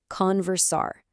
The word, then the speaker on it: conversar: Let's take our time with those syllables, okay? Conversar. Again, that's conversar.